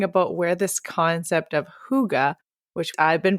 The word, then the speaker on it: hygge: have a version of hygge, which I did mispronounce for years and call it hyggie.